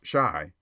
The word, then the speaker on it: Chi: boy and printer boow Chi pronounced Shai by the way is the argot for Chicago a favorite device of